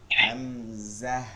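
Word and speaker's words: همزة: ফা বলা লাগবে না হামজা মানে হা এর উপরে গিয়ে বাড়ি দিবেন অর্থাৎ যেমন আমরা এটা তো বাংলায় পড়ি জকারে যা হ যাহ এরকম না এরকম হাম জাহ হামজাহ হুম ইয়া গতকালকের তালিম ক্লাসে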